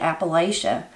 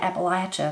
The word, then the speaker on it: Appalachia: my opinion about it whoever taught you how to say Appalachia that's how you learn how to say it so how could it possibly be wrong when I was taught to say Appalachia I was taught to say Appalachia not Appalachia it's the same thing as